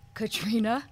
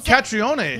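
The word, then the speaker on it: Caitríona: So an I-O sound together makes an E sound, so it's just Katrina.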